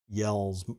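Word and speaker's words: Jelle: go and look at i think it's pronounced yells marble runs um it's spelled j-e-l-l-e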